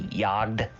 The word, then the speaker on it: Jagd: think they realize that the name is actually German. So you have to say it like they do. They say Jagd.